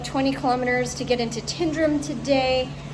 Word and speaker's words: Tyndrum: I'm going to do about 20 km to get into Tindrum today. Tendrum Tundrram. It's kind of pronounced both ways from there.